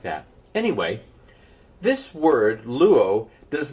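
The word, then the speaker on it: λύω: very painful way this is the Greek word luo can you pronounce it Lambda oops Salon Omega it has an acute accent when it's in its normal State not important but luo luo it means I destroy which is of course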